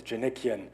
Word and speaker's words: Djanikian: splendor my name is Jenna Qian it spelled DJ a ni ki a and the D is silent no one could pronounce